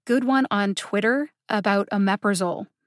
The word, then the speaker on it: omeprazole: one on twitter about omeprazole not too long ago links to both of those are in the show notes here's some examples of ones that i have actually heard omeprosoli instead of omeprazole and victrola instead of